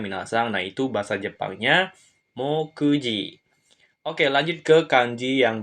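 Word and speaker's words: 目次: selanjutnya ini kanjii selanjutnya dia akan dibaca mokji cara baca ongyomi yang dipakai yang artinya daftar isi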